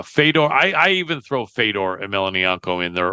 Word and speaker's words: Fedor: Uh Fedor, I I even throw Fedor and Melanie in there or Fodor as they pronounce it.